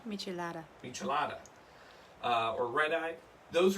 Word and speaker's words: Michelada: A Michelado? Did I say it right? Michelada.